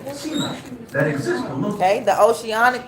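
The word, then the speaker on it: sima: is automatically so the oceanic crust is is pronounced um SEMA and then let's see what SEMA stands for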